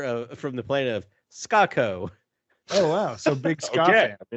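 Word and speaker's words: Skako: spelled s-k-a-k-o and scott it's spelled ska like it's spelled like the music genre which is my favorite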